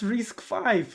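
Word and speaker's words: RISC-V: Oh, pronounced risk five.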